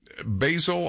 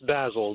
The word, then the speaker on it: Basil: to make your point Basel I believe is how you pronounce it in my my saying your name correctly basil it's basil yeah it's fine forgive me basil thank you yes sir